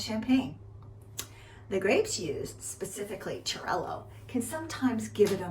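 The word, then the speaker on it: Xarel·lo: Pronounced Xarel-lo, Parellada, and Macabeo.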